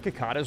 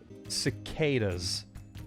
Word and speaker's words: cicadas: am no i don't did i pronounce that right is it kakatas sakatas sakatas i knew that oh here we go here we go i can't believe he said kakada's cicadas cicadas cicadas would straight up keep